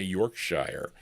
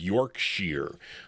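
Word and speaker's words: Yorkshire: That's how you pronounce I used to say Yorkshshire, but it's Yorkshere.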